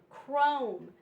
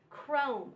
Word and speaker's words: chrome: scheme, echo, echo, and chrome, chrome. All of these are the CH special sound, but it's pronounced with just the C sound and the H is silent.